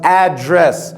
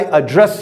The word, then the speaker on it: address: It is pronounced address, that is location. But when you say, what should I call you? As a verb, it means, how should I address you?